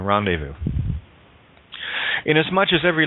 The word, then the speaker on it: rendezvous: Z is silent in rendezvous.